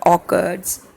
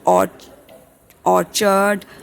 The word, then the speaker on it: orchard: grown for commercial use it is not odd orchard it is occurred right the pronunciation is occurred